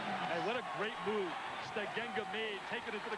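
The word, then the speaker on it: Steigenga: Stagenga is the way the family pronounces it.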